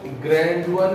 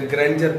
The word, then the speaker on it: grandeur: इसको ग्रैंडुअर नहीं पढ़ते, ग्रैंजर पढ़ते हैं. ग्रैंजर.